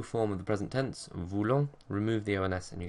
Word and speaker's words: voulons: Nous and vous are pronounced voulons, voulez, because they're spelled with an OU, but then with il,